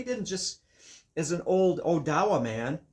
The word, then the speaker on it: Odawa: Being from this northern Michigan area, it is an Odawa bow or some people would say Ottawa, but Odawa is how they pronounce it.